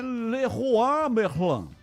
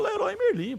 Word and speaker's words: Leroy Merlin: Então, a pronúncia correta é Leroy Merlin. Você acha que algum brasileiro ia chamar essa loja de Leroy Merlin? Virou Leroy Merlin, pô.